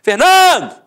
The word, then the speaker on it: Fernando: Por exemplo, Fernando! Ficou onde? A sílaba tônica? No NAN. Então você mata que a penúltima sílaba é a sílaba tônica.